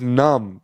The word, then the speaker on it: Noom: you weigh yourself daily, it's pronounced num, which is the sound she makes when she eats.